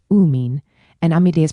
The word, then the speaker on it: amine: Amine is pronounced "uh mean" and amide is pronounced "am ide".